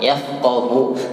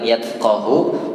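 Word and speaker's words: يفقه: Fiqih itu dari kata faqaha ya, fiqih faqaha yafqahu. Jadi bukan yatqahu, bukan juga yasqahu ya, ini pakai huruf fa.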